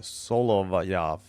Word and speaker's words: Solovyov: Solovyov. It's Solovyov. Solovyov. I have no. I gotta ask. Gotta look for a pronunciation guide.